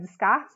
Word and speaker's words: Descartes: Se escreve Descartes, mas se lê Descartes, né?